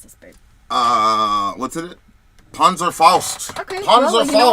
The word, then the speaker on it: Panzerfaust: How do you pronounce this, babe? What's it? Panzerfaust.